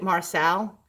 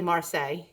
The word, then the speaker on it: Marseille: on Marcel or Marseilles I pronounced it Marcel but it's really Marseilles and it's not a